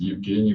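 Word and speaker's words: Евгений: Well, in Russian, it's Evgeny Bagashov, and in Belarusian, it's Eugen Bagashov.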